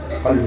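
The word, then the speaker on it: قلب: Vous avez vu, si le qaf, tu le prononces en kaf, si c'est qalb, tu dis kalb, tu as changé complètement la signification du mot.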